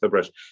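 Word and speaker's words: Ferbrache: That's right, Fairbrush.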